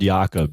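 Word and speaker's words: Jakob: way Imran it's cfel yakob disase Jacob oh yakob oh it's a soft J I see Jacob rfil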